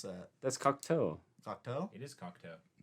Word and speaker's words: Cocteau: pronounce that? That's Cocteau.